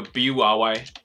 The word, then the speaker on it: bury: 答案不是，因为 bury 它的发音跟那个草